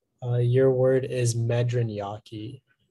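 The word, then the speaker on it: medriñaque: all right uh your word is medran yaki medraniaki may i have the definition please it's a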